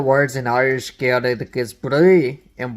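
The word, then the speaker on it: bruith: With that said, there's one of the words in Irish Gaelic is Bree, and Bree is spelled B-R-U-I-T-H. Bree. Which sounds a lot like Bridget.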